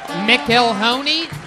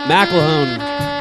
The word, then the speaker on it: McElhone: McIlhoney? McMicklenoney? McElhone. McElnan. McElhone. It rhymes with tackle zone.